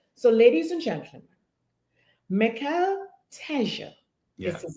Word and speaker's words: Mical Teja: pronounce the name. So, ladies and gentlemen, Mical Teja Yeah. is his name, not Mical Teja.